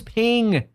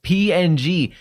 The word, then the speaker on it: PNG: Nobody says PNG, man. Everybody says ping. He says, "But it's okay. We all say some things wrong." Yeah, you're saying it wrong when you say PNG. That's such a lame way to say it. PNG. Too many syllables for such a simple word.